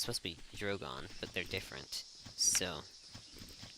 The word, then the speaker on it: Drogon: Targaryen and then I am gonna pronounce the name wrong regal and well it's supposed to be drogon but they're different so it's great her see